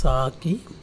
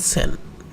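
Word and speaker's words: 先: একটা কাঞ্জি ব্যবহৃত হয়, যার উচ্চারণ দুইটা। একটাকে বলা হয় সাকি, এটা উচ্চারণ নর্মালি সাকি, আর একটা উচ্চারণ সেন। সো এই দুইটার উচ্চারণ আছে এখানে। সেন অনেক সময় বলা হয়, অনেক সময় সাকি বলি।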